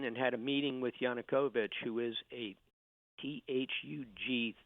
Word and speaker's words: Yanukovych: want to say his name correctly yep Yannick Yanukovych did you deal with Yanukovych at all yes